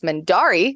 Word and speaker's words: Mendarii: I am known across the internet normally as Mendari, which is spelled Mendarii.